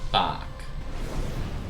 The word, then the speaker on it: Bach: Sorry, Bach. Not Bach. There's no glottal stop there.